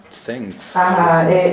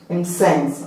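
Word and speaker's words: Mtsensk: Lady Macbeth y el impronunciable, no sé cómo. Sensk. Lady Macbeth de Sensk. pero hay como 50 consonantes y una N, ¿no? Entonces, Lady Macbeth de M-T-S-E-N-S-K. Entonces, pronunciaremos como Lady Macbeth de Sense, ¿ok?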